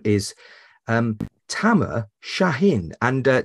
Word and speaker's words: Tamer: say your name was Tamer but basically you said it was like it rhymes with hammer so and I actually